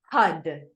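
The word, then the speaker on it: Har: titled Prosperity HUD and it's spelled h-a-r and it's pronounced HUD like h-u-d okay so we're gonna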